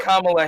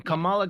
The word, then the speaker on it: Kamala: No, that's literally Kamala Harris.